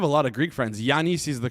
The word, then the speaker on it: Giannis: Yanice is the correct pronunciation of his name.